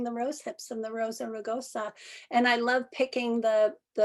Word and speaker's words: Rosa rugosa: Rosa rugosa.